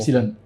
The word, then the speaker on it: Upsilon: Le club où tu Epsilon ou Upsilon, on dit quoi ça se prononce C'est comment? Upsilon.